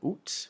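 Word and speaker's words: août: can also pronounce it you'll also hear the pronunciation oot with the final T oot um but it's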